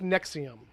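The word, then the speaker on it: NXIVM: the Nixons right it's like NX oh yeah pronounced nexium right but it's NX IVM no he is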